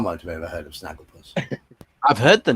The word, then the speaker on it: Snagglepuss: It's a GIF of Snagglepuss, which rhymes with sarcophagus, sort of.